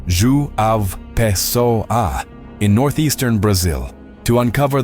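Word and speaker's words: João Pessoa: Today, we're traveling to Joan Pesoa, pronounced Zu A Peso A in northeastern Brazil to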